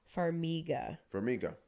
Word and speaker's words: Farmiga: Farmiga? I don't think you said that. Probably not. I love her, though. How do you say her last name? She's in Bates Motel as well. Farmiga.